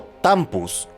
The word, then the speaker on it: tampu: época se cree que los tambos o tampus como se pronuncia en quichua se remontan a tiempos